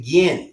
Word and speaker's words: Ginn: Actually, it's pronounced the Ginn.